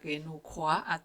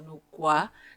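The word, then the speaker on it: Nüwa: NU WA CREATOR & THE GREAT MOTHER OF HUMANITY Nu Wa, sometimes pronounced as Nu Kua or Nu Gua, is featured in many myths.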